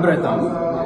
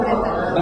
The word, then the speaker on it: Bretan: We're here with Laura Breton. It's well pronounced. Laura Breton. Breton, okay.